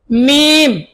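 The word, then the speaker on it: ميم: তারপরে মিম, মিম, আমার সাথে বলুন দুই ঠোঁট লাগিয়ে দিয়ে উচ্চারণ করতে হবে, মিলন থেকে আদায় হবে।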